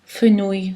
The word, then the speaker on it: fenouil: Attention, elle se prononce y dans les combinaisons souvent avec un i, comme par exemple le mot œil, ail, deuil, fenouil, soleil.